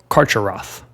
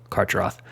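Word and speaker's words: Carcharoth: pronounced different ways but I'm gonna go with the pronunciation of karch Roth and basically karcheroth is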